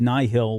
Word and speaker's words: Nihil: it right i don't is it nihil do we actually get pronunciation on this so soul said nihil when he did the interview but that's how i say it so i don't know that works for me so the nighthill and